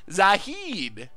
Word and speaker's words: Zahid: I'm going to go with Zalid. I know that's not right because there's no L, and H rarely makes the L sound. It's like a silent H that actually is pronounced as L.